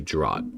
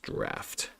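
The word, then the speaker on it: draught: It looks like it should be drought, but I think it's pronounced draft of this Coca-Cola to keep my blood sugar sustained.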